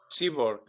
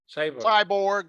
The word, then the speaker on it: cyborg: they were bio-mechanical we call this keyboard right seaborg cyborg yeah cyborg yeah actually how pronunciations pronounce uh patch pass can you pass